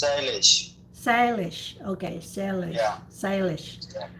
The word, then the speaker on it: Shailesh: It's a 2 syllables, Shailesh.